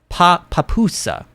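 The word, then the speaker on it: pupusa: Yes, kind of like that, says Evelyn, but the pa is said like kind of quickly.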